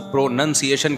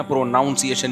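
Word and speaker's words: pronunciation: noun है प्रोनाउन है लेकिन जब इसको प्रोनंसिएशन कहेंगे ना प्रोनाउंस एशन नहीं कहते तो मैं अपनी तरफ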